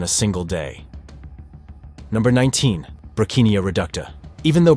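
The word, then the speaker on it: Brocchinia reducta: Brachinia reducta. Even though Brachinia reducta is pronounced like broccoli, it's nothing like it.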